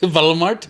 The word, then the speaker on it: Walmart: we don't yeah yeah it's pronounced ball mart valmart yeah because we don't say well I guess if you'd say it over here it'd be Walmart right for the two bees